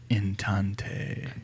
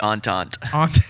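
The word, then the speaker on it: Entente: I can't I can't look away from inante in intente. I feel like we're not even saying it. How do you say it? It's the antant. It's French.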